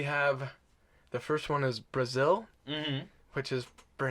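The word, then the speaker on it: Brasil: the first one is Brazil mm-hmm which is pronounced exactly like the country but has nothing to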